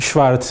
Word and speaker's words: Schwarz: and always somebody else this is pronounced schwarz in english but never mind that